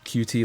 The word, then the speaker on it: Qt: I always pronounced Qt like cute. That is how you're supposed to pronounce it.